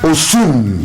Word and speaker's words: Osun: Osun. Nigeria. Oh, it is there. I indulge you a little bit with the pronunciation.